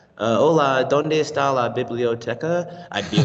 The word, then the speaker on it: biblioteca: It's not like biblioteca. It's like biblioteca. Their tongue is here.